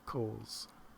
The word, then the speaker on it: Coles: People pronounce it Cowles. Cowles. I guess the guy that the mountain is named after pronounced his last name Coles.